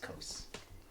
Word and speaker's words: Qos: It's QOS, but it's Quos. pronounced Quos. He is dressed in a lot like a studded armor.